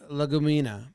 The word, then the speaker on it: Legumina: Because they're saying it's pronounced legumina, which sounds just like a Southern person trying to say a Latin word.